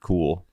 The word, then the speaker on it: KUHL: Maybe I'm saying it wrong. KUHL. Oh, yes. How do I say that? I mean, knew no. you would know it, but I knew you would know it. But It's like cool with and the U